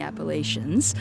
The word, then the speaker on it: Appalachians: the the Rockies and the Appalachians. So, I know that that's, uh, you know, not the most popular pronunciation, but I always say, "Hey, that's how we pronounced it there."